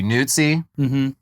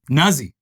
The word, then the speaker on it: Nuzzi: I mean, the Italian pronunciation would be Nuzzi. But Nuzzi.